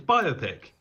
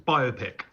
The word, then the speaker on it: biopic: I actually read an interesting thing about how in English we don't tend to put the emphasis on the beginning of a word like this. And so that's why people tend towards biopic as the pronunciation, because that's more comfortable for us.